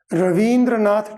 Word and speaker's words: रवींद्रनाथ: अपने रविंद्र दिया तो रविंद्र शब्द जो है यह बुद्धि के अंदर गलत शब्द है रवींद्रनाथ टैगोर रवींद्रनाथ टैगोर का